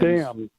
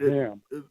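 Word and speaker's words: Damm: Dan. D is in David. A-M-M. I'm sorry. Not Ham.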